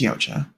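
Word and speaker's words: Yautja: Yaoa, if you didn't know, people call them predators, but the race is actually Yaocha or Ya. I don't know how to pronounce it. I think it's Yaocha. Um, Y A U TJ A, just like aliens or Xenomorphs.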